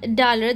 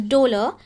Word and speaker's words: dolor: calor is heat, and this is actually not dalar, this is, I think we pronounce it as dolor, this is pain.